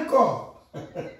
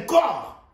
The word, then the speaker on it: corps: Alors que c'est un corps. Regardez bien. Le corps prend un S. Alors que c'est un corps. Et le S ne se prononce même pas. Vous voyez? Un corps.